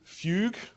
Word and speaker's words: Fugue: be thinking is like I'm not sure how to pronounce that it is fugue be careful and our